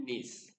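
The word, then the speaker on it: gneiss: ग्रेनुलाइट, marble, quartzite and नीस। Ji silent है तो इनको हम पढ़ेंगे नीस।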